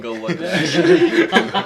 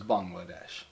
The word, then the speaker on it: Bangladesh: Oh, like bang bang. Bang. Yeah, bang. Like okay, it's spelled B-A-N-G.